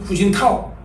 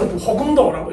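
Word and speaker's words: 胡锦涛: 풍조가 될 수 있는 그 나라 발음을 읽어 주자 해가지고 어 도더 히시 옛날에는 어 뭐 중국 사람들도 중국 사람들도 옛날에는 근데 뭐 어 지금 그 얼마 전에 저가 했던 분이지 중국에 주석했던 후진타오 옛날 호금도라고 읽어 근데 지금 후진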